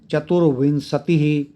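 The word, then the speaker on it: चतुर्विंशति: सुप्रभातम महत्वाधायनी पर्व परंपरा भी चतुर विनंसति र बोलेंगे र ऊपर है चतुर विनंसति उ के ऊपर बिंदी है उसको बोलेंगे चतुर वििंसति द्व सप्तति तमे वंश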